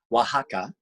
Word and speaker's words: Oaxaca: took me forever to figure out how to pronounce the name oaxaca okay so that's where you did the recording